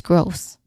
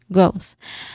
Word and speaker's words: growth: This one, that's a representation of the soft th sound. Okay, you made by placing the tip of your tongue lightly between your teeth and blowing the air out. That's growth. Okay, growth.